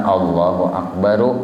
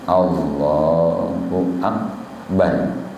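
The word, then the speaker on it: الله أكبر: Dan sunnah, napa sunnahnya mansukunkan. Sukun ini uji bahasa kita mati bulat. Mansukunkan ra pada akbar. Kan Allahu Akbaru lah. Cuma sunnah disukunnakan. Allahu Akbar.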